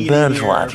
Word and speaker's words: Bernschwat: And I said, Bernschwat, you know, like you burn yourself and you swat a fly.